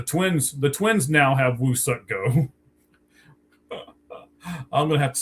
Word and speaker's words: Woo Suk Go: It's not we suck go, it's Woo suck go. Um, and they actually Oh, so they gave him to the twins. The twins. The twins now have Woo suck go.